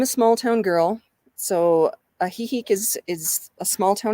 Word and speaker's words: Ajijic: go to is ajijic and you actually you spell that a j i j i c and i'm a small town girl so a heihei is is a small town as well it